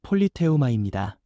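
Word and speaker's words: πολίτευμα: 여기서 시민권이라는 말은 헬라어 발음으로 폴리테우마입니다.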